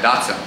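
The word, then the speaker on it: Dotson: But D-O-T-S-O-N, Datsun. Not like the car, it's kind of weird.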